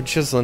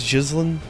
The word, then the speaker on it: Ghislaine: from me I'm pretty that is how they pronounced it right it was it was jlin gosh your name straight